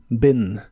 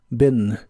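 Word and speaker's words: been: en inglés es Ben la doble e se pronuncia como una I corta Ben Ben el verbo conocer como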